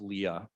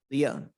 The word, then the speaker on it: Leah: your on your delegation my name is pronounced Leah Leah I'm sorry what my